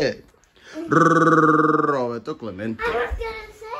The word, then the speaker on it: Clemente: Clemente. That's not how you say it. Mm-mm. That's not how you say it. You got too much gum in your mouth? How you say it? Roberto Clemente.